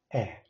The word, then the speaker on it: Ä: Second one is Ä. Ä. How it sounds? It sounds as English cat. So it is not A, it is Ä. Cat. Or hand, the pronunciation Ä. Ä.